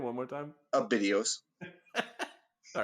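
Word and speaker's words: Abydos: videos what was that name one more time a videos all right it's spelled a-b-y-d-o-s and so he ignored her and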